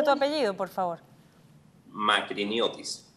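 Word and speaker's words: Makriniotis: ¿Me instruyes en cómo se pronuncia tu apellido, por favor? Magriñotuis. Magriñotuis, perfecto.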